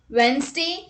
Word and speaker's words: Wednesday: word with silent d rule number one d is not pronounced in the following common words let's look at the examples handkerchief wednesday sandwich handsome let's look